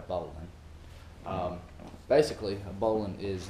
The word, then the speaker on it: bowline: how to tie a bowling or bow line or it has tons of different pronunciations I have a really southern accent so I tend to call it a bowling um basically a bowling